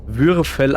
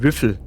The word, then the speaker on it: Würfel: Aussprache des Wortes Würfel man spricht es Würfel aus und nicht würffel sorry ich musste das